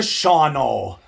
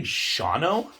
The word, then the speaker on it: Shawano: And I'm like, "Did you just pronounce it Shawano? Isn't it like Shawano?"